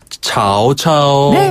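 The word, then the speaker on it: 曹操: 발음하면 였죠 산구네 그리고 우리가 조조 배웠잖아요 조 발음은 차오차오네 맞아요 오오 유비는 유비유비 관우 자 리우베 그렇죠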